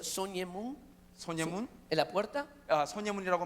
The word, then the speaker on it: 숭례문: 1398년에 Llamada, creo, no sé cómo se pronuncia, Soñemun, 소녀문, en la puerta. 소녀문이라고 말하죠. 숭례문.